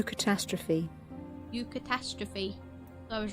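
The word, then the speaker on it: eucatastrophe: you how do you say that U catastrophe you catastrophe I was right what does it mean a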